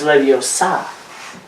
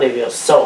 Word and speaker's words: Leviosa: It's Leviosa, not Levioso or whatever the hell I still don't know what the difference is.